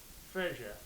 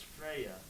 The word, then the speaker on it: Freya: Frazier. Oh no. Okay, the fact that this is the top thing, that just shows people are looking. Oh, it's Freya.